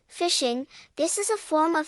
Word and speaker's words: phishing: fishing this is a form of fishing attack where a hacker redirects traffic intended for a particular genuine website to another fake website phishing pronounced as fishing can be done in